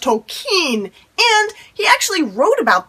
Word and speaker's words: Tolkien: okay did you know that it's not actually pronounced tolkien it's pronounced tolkien and he actually wrote about this in a